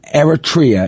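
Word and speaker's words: Eritrea: So the countries that have a halt of naturalization, Afghanistan, Burma, Chad, Republic of Congo, Ecuadorial Guinea, Eratria, Eratria is how you say it, Haiti, Iran, Libya, Somalia, Sudan, Yemen, Bundi, Burundi, Cuba, Laos, Syria, Leon, Togo, Teddistan, and Venezuela.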